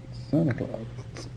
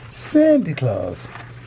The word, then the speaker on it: Santa Claus: Santa Claus. Or as the Americans say, Sandy Claus.